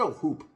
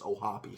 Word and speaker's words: Ohtani: I said Ohoop in my preview. I thought that's how it's pronounced. I guess it's Ohapi, so I apologize for mispronouncing that name.